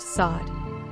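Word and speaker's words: סוד: Revelation secret the Hebrew word for secret is pronounced sod its gria value is also 433 this word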